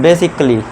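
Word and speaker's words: basically: बेसिकली बेसिकली।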